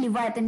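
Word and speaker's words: leviathan: text books clear दोस्तों I will repeat the spelling L ई वी आई ए टी एच ए एन लि वाथन यानी कि biggest of its kind कोई चीज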